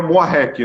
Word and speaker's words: Muarrek: Para todos que estão assistindo, a doutora Raquel Moarec, né? Assim que pronuncia.